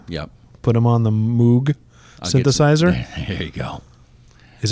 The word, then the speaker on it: Moog: Put him on the Moog synthesizer. There you go. Is it Moog? Did I pronounce that right?